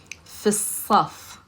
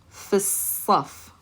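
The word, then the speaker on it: في الصف: So we're not going to say fi al because the lam is never pronounced when you have a sun letter. We're going to connect that fi sound to the slad.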